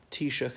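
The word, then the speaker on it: Taoiseach: pronounce the Irish way and T shook as in the prime minister but even speaking English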